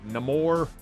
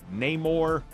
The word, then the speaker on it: Namor: let's write them pick how you want to pronounce it no more name or cuckoo con there you go whatever you call